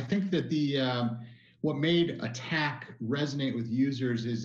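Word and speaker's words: ATT&CK: And just so people are clear on that, all caps, ATT, ampersand or and sign, I should say, capital C, capital K, looks like attack. That's how you say it.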